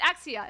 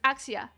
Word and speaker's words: AXZ: It's Axia. It's how it's pronounced. It's Axia. Because it's like Wings of Axia.